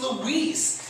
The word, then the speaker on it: Luis: own name wrong because i go hi i'm louise well hey louis i was like i'm not saying it with my own mexican accent because i like to hear it it's louise someone this actually had